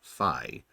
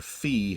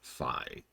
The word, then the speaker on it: Fi: of the concept of fi which is apparently how it's pronounced I had to look that up I've been calling her fee for literal years but apparently it is fi sure anyways so fi